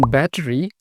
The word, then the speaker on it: battery: same battery same charging rather than saying battery U Mar said battery that is to say uh his T sounded like a half-hearted d this also happens in